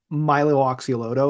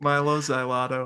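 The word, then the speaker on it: Mylo Xyloto: And I feel like when they followed it up with oh, I always mispronounce the follow-up record. I always want to say Milo Oxyloto or something Yeah, like Milo Xyloto or something.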